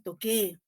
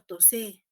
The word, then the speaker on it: toqué: Su conjugación debe ser toqué, pero si yo no cambio la grafía, ¿no? Tendría que pronunciar tosé, ¿no? Yo tosé.